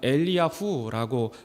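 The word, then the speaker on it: אליהו: 엘리야라는 이름은 원어로 읽으면 엘리야후라고 발음하게 됩니다.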